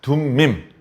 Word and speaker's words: 둠밈: 성경에서는 발음을 세게 하면 안 돼요. 그래서 발음을 부드럽게 하는 거죠. 툼밈 아니요, 둠밈. 피터 아니요, 베드로. 이렇게. 토마스 아니, 도마. 이렇게.